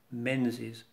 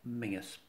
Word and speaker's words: Menzies: first of scotland but in scotland menzies is mingus mrs mingus of calder